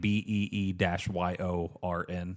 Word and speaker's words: Bjorn: I want to name my kid Bjorn, Oh, that's good. but I like like that. misspell it, like BEE-YORN.